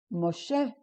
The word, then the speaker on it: Moshe: The next one is Moshe, Moses. M, O. Okay, this vowel here gives it the O sound, so it's M, O, She. And this is silent. So it's M, O, She, Moses.